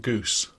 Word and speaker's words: GOOS: Yeah, we've pronounced that goose, apparently.